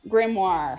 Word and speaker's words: grimoire: Grimoire.